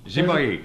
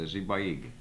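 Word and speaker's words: Sipayik: Zibayig. Zibayig. Zibayig. That's how you say it. Spelled S-I-P-A-Y-I-K, but the S is a Z syllable and the K is a G syllable, so it's a Zibayig.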